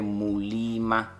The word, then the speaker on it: Muliima: Then I'm like, based on the pronunciation from my tribe, it's actually Muliima.